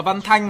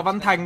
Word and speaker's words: Văn Thanh: Tôi đọc là Văn Thanh mà tôi đọc là Văn Thành đâu.